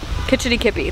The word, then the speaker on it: Kitch-iti-kipi: Kitch-iti-kipi, that's it.